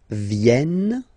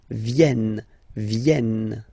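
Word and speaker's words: viennent: the last one here so you've got this double n just after the uh so it will change a little bit your pronunciation you will have to pronounce this like e e okay ven so remember this classic ending n for the third person of the plural is here but phonetically doesn't exist so you don't pronounce it venen okay elen all right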